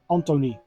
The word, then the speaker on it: Antoni: And the I in Dutch is pronounced as E. So it is a short E. So his first name is pronounced as Antony.